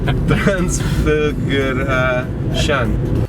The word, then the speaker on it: Transfăgărășan: Transfăgărășan.